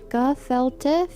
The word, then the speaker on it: gefilte: Gefilte fish, pronounced gefilte fish, is fermented, shredded fish meat that is mixed.